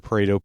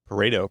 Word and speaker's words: Pareto: Parto. And that's how I've always heard it pronounced. It might have a particular Italian flare that you are supposed to say it with like something parto.